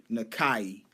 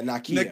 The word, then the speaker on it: Nakia: fact that Lupita Nyong'o rocks as her character, Nakai.